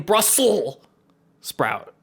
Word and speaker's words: Brussels sprouts: been saying brussels sprout well i mean it carries over with the s and then sprout so i think you can really just i would say 70 of people mispronounce it because because it it comes from brussels he's thrown out any